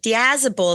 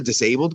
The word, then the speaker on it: Diazable: Diazable is how you say it. Everyone even says Diazable. Well, a lot of people say just straight up will say, "Hey, are you the disabled guy?" Thinking it says disabled.